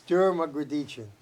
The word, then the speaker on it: DerMugrditchian: Okay, it's DerMugrditchian.